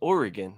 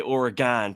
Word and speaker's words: Oregon: He goes, just so you're aware, it's pronounced Oregon. I'm like, yeah, that's what I've been saying. He's like, yeah, just don't be an idiot and say Oregon.